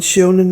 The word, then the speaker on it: Sionan: So you had goddesses like Seonan and Bowen, who, Seonan gave her name to the river Shannon, and Seonan is spelled Sionan.